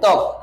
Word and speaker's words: ত্বক: আদিতে ব ফলা থাকলে শব্দের আদিতে ব ফলা থাকলে তা অনুচ্চারিত হয় তা অনুচারিত থাকে অনুচ্চারিত মানে কি তার কোন উচ্চারণ হয় না যেমন ধরো আমরা একটা উদাহরণ দিলাম ত্বক কি উচ্চারণ দিলাম ত্বক দেখো ত এর সাথে আমার কি আছে ব ফলা আছে ঠিক আছে তাহলে শব্দের একদম আদি শব্দের সাথে যুক্ত আছে তাহলে এর উচ্চারণটা হবে কি রে ওর কোন উচ্চারণ হবে না ত কয় সুন্দর ত্বক